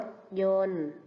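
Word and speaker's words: รถยนต์: เด็ก ๆ คำ ว่า รถ ยนต์ มี ต่อ เต่า การันต์ อ่าน ว่า รถ ยนต์ ส่วน ภาพ นี้ ก็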